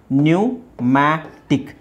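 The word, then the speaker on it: pneumatic: ನ್ಯೂಮೋನಿಯಾ ಹಾಗೆ ಇದು ಪಿ ನ್ಯೂಮ್ಯಾಟಿಕ್ ನ್ಯೂಮ್ಯಾಟಿಕ್ ನ್ಯೂಮ್ಯಾಟಿಕ್ ನ್ಯೂಮ್ಯಾಟಿಕ್ ಇಲ್ಲಿ ಸ್ವಲ್ಪ ನೀವು ಉಚ್ಚಾರಣೆ ನೋಡಬೇಕು ಪಿ ಇದೆ ಪಿ ಸೈಲೆಂಟ್ ಮಾಡಬೇಕು ಇದು ಇಲ್ಲಿ ಒಂದು ಲೆಕ್ಕದಲ್ಲಿ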